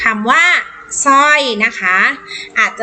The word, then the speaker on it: สร้อย: ว่า ชาว นะ คะ สร้อย อ่าน ว่า soy นั่น เอง ค่ะ